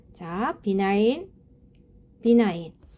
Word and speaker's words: benign: " benign" 에서 'g' 는 묵음 입니다 .